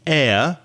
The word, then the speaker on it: air: of that word, air, when you said air, you put an H sound before it. So it sounded like hair, which of course is on your head. So be careful not to use that H sound before a vowel.